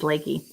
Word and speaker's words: Leaky: I'm pronouncing leaky wrong. It's Lakey.